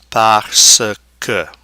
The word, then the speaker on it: parce que: Okay, there's no E there, forcing its pronunciation. And then parce que.